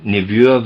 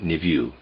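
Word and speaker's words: niveau: The word I'm pronouncing or trying to pronounce there is n i v e au. I'm pronouncing it nu. Concerning the word nuvo, it um means a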